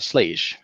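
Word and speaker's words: Schlage: like quick set or slj or something like that um and it's actually pronounced slay excuse me so he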